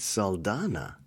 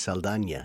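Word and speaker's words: Saldaña: I think it's Saldana. Saldana, because I think she has the curly thing over the N.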